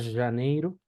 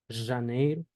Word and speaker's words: Janeiro: después vamos con la J se pronuncia siempre sh y no así vamos a ponerle como una y vibrada con un ligero ceseo vamos aer ceseo entonces por ejemplo la palabra Janeiro Janeiro neiru janeir lo que